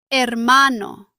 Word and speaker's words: hermano: The Spanish H is normally silent. You see the letter, but you do not pronounce it. For example, hola. Hola means hello. The H is silent. Listen. Hola. Not hola, just hola. Other examples are hotel, hora, hermano.